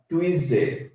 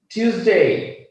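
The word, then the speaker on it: Tuesday: আমরা সবাই শিখে এসেছি, ইভেন আমিও শিখেছিলাম টুইসডে, আসলে এটা টুইস না, এটা হবে টিউস। টিউসডে, টিউস, আছে না ইলেকট্রিক, আমরা বলি না ফিউজ, ফিউজ চলে গেছে, ওই ফিউজটা মাথায় রাখবেন, ফিউজ থেকে টিউস।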